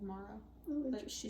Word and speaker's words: Mara: Yeah, my name gets mispronounced a lot. Mora, Mara. What other? There's been other mispronunciations. Mira, Maya. It's M-A-R-A. It's not that hard.